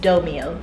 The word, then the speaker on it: Domio: Like, thank you so much to the Domio team, or actually I found out it's pronounced Domio.